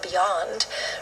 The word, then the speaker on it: beyond: There are words that are missed because they're not following that stress pattern, like the word beyond, right, which actually has the opposite with stress on the final syllable.